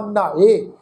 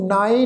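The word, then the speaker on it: ਨ੍ਹਾਏ: नहाए, नावा नहाए, इनू नाए नहीं पढ़ना, नहाए प्रोनाउंस करांगे।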